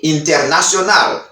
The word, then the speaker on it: international: C'est internet y international. C'est mot internet et puis international. In American accent, they said, dans accent américain, américain prononcer internet, internet, internet. Sans T à pas prononcer.